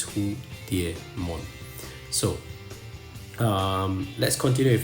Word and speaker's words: Hudiemon: the Chinese word uh but it's definitely not hudon even though you know there's d i e there in the middle uh that's how you should pronounce it it's who Deon so um let's continue with his profile an